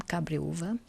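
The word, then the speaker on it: Cabreúva: one on the list people normally pronounce this differently but this is the name cabria and you can also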